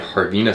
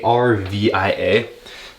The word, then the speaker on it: Harvia: What we got is a Harvina sauna. I think that's how you pronounce it. It's Harvia.